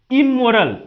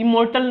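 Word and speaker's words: immortal: इमोरल, ये दोस्तों इमोर्टल नहीं पढ़ेंगे, टी साइलेंट है, इमोरल यानी कि अमर।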